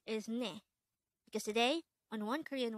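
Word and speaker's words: 내: Hangul word number 213 this is composed of just one syllable and this is pronounced as NE the word net is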